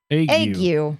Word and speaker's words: ague: Well, Google, how'd you pronounce that? ague.